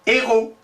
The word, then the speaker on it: héros: il nous dit que quand on dit des héros, on ne prononce pas le S, donc on ne peut pas confondre.